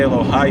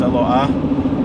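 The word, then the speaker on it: אלוה: else is wrong, and you're not supposed to say Eloha Yaakov, it's Eloah, and because the hey is at the end, because just like you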